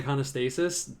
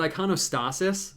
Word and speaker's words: iconostasis: more question I'm mispronouncing iconostasis damn I know someone told me that and I was like I really that the vitro is it iconostasis it's like honest Asus I'm gonna have to